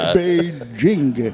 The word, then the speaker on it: Beijing: pronounce. How about that? There you go. Beijing. B-A-Y. All right. J-I-N-G. Right? Chinga. Beijing.